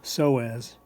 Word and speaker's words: psoas: something called iliopsoas okay the p in psoas is silent so we say psoas and then we also